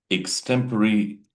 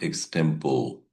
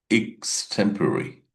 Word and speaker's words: extempore: Today's topic is extemporary versus normal public speaking.